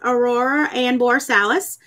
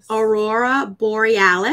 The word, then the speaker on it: Aurora Borealis: So next inside is Aurora and Borsalis. So, or how do you say it? Aurora Borealis.